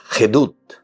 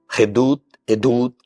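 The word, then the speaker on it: עדות: Y la palabra hebrea para decir testimonio es Hedut. Edut, ¿verdad? Hedut tiene una pronuncia Ain, ¿verdad?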